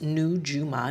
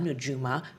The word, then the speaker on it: Nujuma: And Nujuma actually, pronounced Nujuma Nujuma, means stars in Arabic and it is inspired